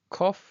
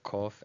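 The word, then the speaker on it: קוף: And you'll notice how this is actually the same sound as the letter Kaf.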